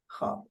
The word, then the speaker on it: خواب: facilitated to the خواب, and the verb is silent. I mean, you don't hear it anymore.